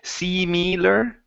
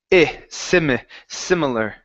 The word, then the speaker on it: similar: We're looking at the I sound. So instead of saying similar, it's similar, similar.